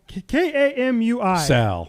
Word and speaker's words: Kamui: Kamu Kamu K A M UI Kamui Kobayashi.